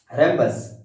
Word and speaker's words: rhombus: तरह से जाता है, क्योंकि यहाँ पर एच को हाइड कर दिया जाता है, उच्चारण करते समय एच का हम उच्चारण नहीं ले पाते हैं, डायरेक्ट रम्बस बोलते हैं, इसलिए ध्यान देना होता